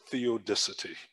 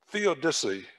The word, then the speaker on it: theodicy: i heard the word and i struggled to pronounce this correctly but the first time i heard the word theodicity theodicy theodicity is a word religious scholars use for